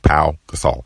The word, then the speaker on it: Pau Gasol: That's how you pronounce his name, Pau Gasol.